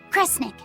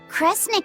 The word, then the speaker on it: Kresnik: The other word attached to it is pronounced kre. Which of those first two readings feels right to you? Sound it out. Kre, Snira, Kre, Snick. Kresnik. Kresnik feels right somehow.